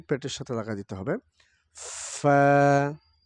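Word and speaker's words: ف: এখানে যে হরফটি দেখতে পাচ্ছি এই হরফটি হলো ফা। বাতাস চালু থাকবে এবং ফা, ফা। উপরের ২ দাঁত নিচের ঠোঁটের পেটের সাথে লাগা দিতে হবে। ফা, ফা, ফা, ফা, ফা, ফা।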